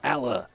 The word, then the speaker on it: Alaa: But he did say to pronounce it's Al as in Alabama and then as in like So Alaa, if you want to really hit the bottom half of it.